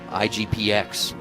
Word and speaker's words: IGPX: now we're looking at oh international grand prix igpx that's how you say it versus boruto one of